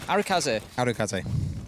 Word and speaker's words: Arikaze: out the sledge of arakazee struggle to say that name quickly arikaze yeah break it down into three syllables it's only when i